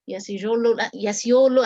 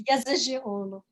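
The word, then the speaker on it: Yazıcıoğlu: And I'm very pleased to have her with us, my friend, Professor Yasiolu, and please correct my pronunciation. I'm sorry that I got your last name mispronounced. I apologize. It's Yasiolu.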